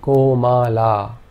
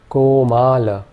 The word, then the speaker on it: Komala: In this case, all three vowel sounds are long.